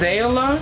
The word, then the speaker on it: Zaila: So I believe it's pronounced ZAILA, but it is heat safe from 350 to 400 degrees Fahrenheit.